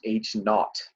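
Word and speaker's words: H₀: and we're gonna call that oh it's actually pronounced H naught but we're gonna call it H oh all right we'll call it H oh the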